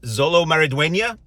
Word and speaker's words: Xolo Maridueña: dark knightify everything so the story here is Zolo maraduena actor had to look it up to pronounce it correctly out of respect uh who